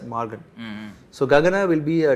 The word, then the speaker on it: Maargan: Isa people, Mallayalam, Canada, everyone will be finding it easy to pronounce this word as Morgan.